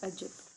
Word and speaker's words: عجب: سب سے پہلا ہے عجب، عین زبر جیم زبر بے، عجب، ٹھیک ہے۔ عجب مطلب